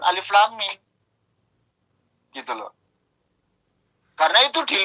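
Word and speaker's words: الم: Andaikan dia pertama kali, lalu dia itu pernah belajar Iqra, Bata, paling bacanya Alama, bukan Alif Lam Mim.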